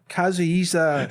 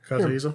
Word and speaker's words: Kazuhisa: All right, so did you hear that Kazuhisa Hashimoto Shit.